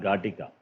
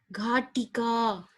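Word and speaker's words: घटिका: Not Gatika. Read again. Gatika. No. It's Right. Ghatika. That's a mistake.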